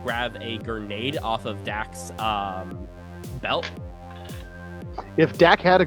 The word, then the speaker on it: Dak: Just call me Just Dak. say Dak. Just say Dak.